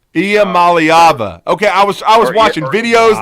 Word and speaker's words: Iamaleava: But it's Iamaleava. Iamaleava.